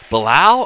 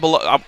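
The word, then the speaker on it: Belal: how you say it i thought you were saying blau earlier bilal i think is how you're supposed to say it not belo for look i met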